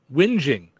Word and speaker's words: whinging: So like it's like whining, but with a G in it.